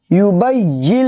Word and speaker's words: يبين: طریقے سے بولیے گا، یبین لنا ما ہی، یہ جو نون ہے نون نہیں پڑھیں گے۔ دیکھیں میں ہجے کر